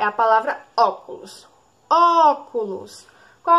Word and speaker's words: óculos: exemplo um último exemplo é a palavra óculos óculos qual é a sílaba mais forte é sai vocês vão dizer